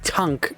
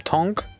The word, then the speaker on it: Tunk: Depends how you want to pronounce it. I'm going to call him Tonk, even though it's spelled t u n k. This tank, this instead of a it's a u.